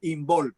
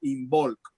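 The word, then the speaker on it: Imbolc: se llama en bolk que es una enol como suena inol lo pronuncio I latina m b o l c inol esta celebración tenía que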